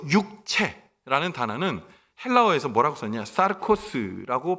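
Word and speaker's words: σαρκός: 자녀라고 말합니다 여기서 육체라는 단어는 헬라어에서 뭐라고 썼냐 사르코스라고 발음을 하는데 이것은 어떤 얘기냐 육체는 영이 깃들지 않은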